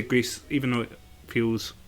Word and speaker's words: Gris: Gree. I think it's pronounced Gree. Gris. I don't think maybe Greece, but I don't like calling it Greece.